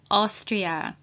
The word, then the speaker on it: Austria: with autism please note a and u together at the beginning of the word are pronounced as o and thank you again